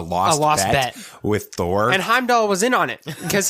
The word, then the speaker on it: Heimdall: of the guy that the british time doll heimdall yeah that's how it's pronounced okay i i don't remember with it